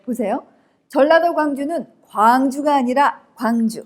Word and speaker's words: 광주: 기차게 rc 아시잖아요 그런데 전라도 광주는 빛 광자 서 짧습니다 자 해 보실까 하자 전라가 황제는 과학 거 아이가 하음이 a 쌀 께 발음합니다 1명 자 접속사 다는 잠깐 쉬었다 가세요 자 반면 경기도 광주는 황주 가 아니라 광주 길게 발음 한다는 것 꼭 기억하세요 시작 아 아 o 아